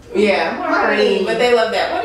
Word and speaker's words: Marni: It's easy to pronounce, Marni. And it's part of my name. Why do you say it? You have to say it kind of nasally. Yeah, Marni.